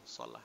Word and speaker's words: Salah: Solah itu artinya baik itu, solah itu ya. Solah ini kadang-kadang dibacanya salah ya. Contohnya kayak pemain bola, itu yang betul namanya di Mesir itu solah, itu bukan salah ya.